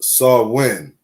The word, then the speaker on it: Samhain: In modern times, Samhain, a Gaelic word pronounced Samhain, is usually celebrated from October 31st to November